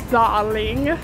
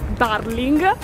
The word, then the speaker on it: darling: Io amo la parola darling. Sono partita dall'Italia che pronunciavo questa parola darling e adesso, dopo quasi un anno, ho capito che la pronuncia giusta è darling, che equivale all'italiano caro o cara. Darling Harbour.